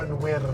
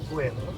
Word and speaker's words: wyrdd: It's "wyrdd". It mutates. You have to watch your mutations. The grass is "wyrdd" - not "gwyrdd". Sorry.